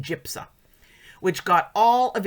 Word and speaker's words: JPSA: As proof of legal abortion safety, he points to the Joint Program for the Study of Abortion, JPSA, pronounced JIPSA, which got all of its information from abortionist records.